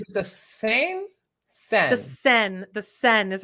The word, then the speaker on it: Seine: The Seine is how they say it.